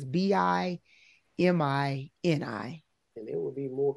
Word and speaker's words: Bimini: We should, you know, they just opened up, let me pronounce it correctly, Bimini in the Bahamas.